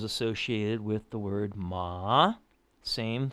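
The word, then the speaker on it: 骂: friend's horse awkward okay fourth tone that one is ma and that just means like that's means curse or scold or I don't use that one so much like you and and you actually say it like you would scold a kid m m that's the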